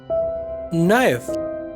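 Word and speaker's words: knife: नाइफ, चाकू, यहाँ पर के जो है वो साइलेंट है, यानी साख्त हुरूफ है। नॉक, खटखटाना, यहाँ पर भी के जो है ये साइलेंट है, यानी साख्त हुरूफ है।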